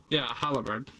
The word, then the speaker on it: halberd: Haliberd, right? I think. Yeah, the pole axe. Yeah, haliberd. It's the way you pronounce it.